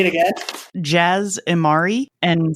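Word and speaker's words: Jas Emari: To help out you guys who haven't heard the audiobook, it's Jaz Amari and Sinjir Rathvelis. Oh, is that how you say it? That's how they're pronounced. Say it again. Jaz Amari and Sinjir Rathvelis.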